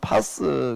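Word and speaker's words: πᾶς: 만자가 뭔가 하게 되면은 파스 발음을 파스 그렇게 하는데 모든이란 뜻이 되는 거예요.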